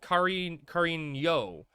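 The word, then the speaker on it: cariño: Carino, pronounced Carino, means sweetheart in Mexican Spanish.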